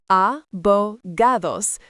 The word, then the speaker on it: abogados: Sonogados pronounced abogados.